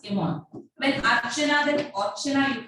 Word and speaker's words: Iman: Actually, we are spelling actually I-M-A-N, and she told like, don't pronounce it Iman, because actually in our area, A is not there, everything is O. So I-M-A-N also you have to pronounce Imon.